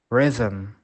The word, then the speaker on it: rhythm: However, the combination CH is usually pronounced sh, but on small occasions, the H is silent. For example, choir, echo, ghost, rhythm, rhyme.